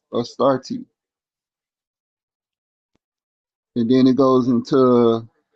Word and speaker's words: Astarte: And other groups in the Near East referred to her as Astarte, pronounced Astarte.